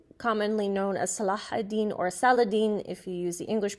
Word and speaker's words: Saladin: Yusuf IBN Ayub commonly known as salahuddin or Saladin if you use the English pronunciation was the founder of the ayuba dynasty